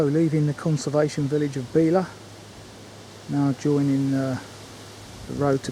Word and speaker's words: Belaugh: Yeah, I've just been told by one of the locals that this place is pronounced Belaugh. Completely different to what I thought. So, leaving the conservation village of Belaugh, now joining the road to Coltishall.